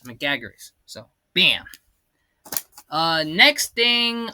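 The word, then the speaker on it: Megaguirus: Like Gabra's been red and it's pronounced Megagaras, not Meagaras. Megagaras.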